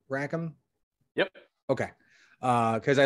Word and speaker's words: Rackham: came out with rackham veil and am i pronouncing that name right rackham yep okay uh because i look at i